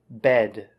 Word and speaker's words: bed: what you said there the word bed bed maybe that short e sound sounded a little strange bring bring home no